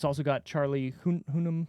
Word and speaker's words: Hunnam: It's also got Charlie Hunnam. How do you say his last name? Hunnam.